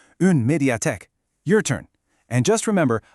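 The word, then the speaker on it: une médiathèque: Our first key term is undiate. Let's try saying it slowly together. Undat. Good. Now, a little faster. Undiate.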